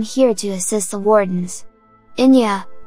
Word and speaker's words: Eithne: Inya, apparently pronounced like that after the Irish musician, had a dream that